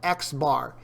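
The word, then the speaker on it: x̄: It's literally pronounced X bar.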